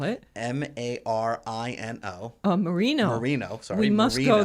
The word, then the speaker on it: Marino: And it's basically Marano, which is a town south of Rome, and they have every year a grape festival. How do you spell it? Marino.